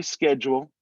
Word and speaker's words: schedule: his now we say schedule the british pronounce that without the c sound so it's like an sh sound so it's going to start with shed and then that u